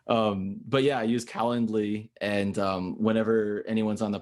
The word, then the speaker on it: Calendly: Calendly.